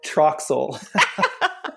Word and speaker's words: Troxel: no problem yes Troxel if you know what you pronounce it exactly the way you look at it but I'm not used